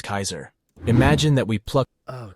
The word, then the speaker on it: Caesar: Julius Caesar. Caesar. Stress at the beginning, full diphthong.